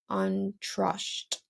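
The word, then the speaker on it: Antrosht: mid-fall after the rainy season and it's called untrust that's spelled a-n-t-r-o-s-h-t and they eat a large Feast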